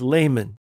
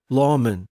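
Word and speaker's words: lamen: these parchments are often referred to as laymen or the Latin pronunciation Lawman or lamin layman in Latin means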